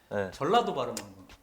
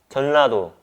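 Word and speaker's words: 전라도: "Rift Herald" pronunciation matter, Try saying "JeoLLa-do" Huh?? JeoLLa-do "JeoNLa-do" You can't make the "L" sound lol. It's your style. You make the "N" sound, when it's supposed to be a "L" sound.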